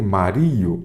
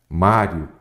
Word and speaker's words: Mário: História é o mesmo caso do mestre Mario. Não é mestre Mario. É mestre o quê? Mário.